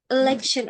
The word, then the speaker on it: election: Oh, election. Oke, Miss. Ya, bacanya election. Election. L-I. Election. Ya, E itu baca I ya.